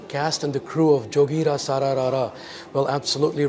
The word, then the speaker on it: Jogira Sara Ra Ra: Jogira, Sara, Rara.